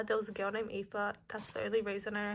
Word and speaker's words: Aoife: If you guys remember, there was a girl named Aoife.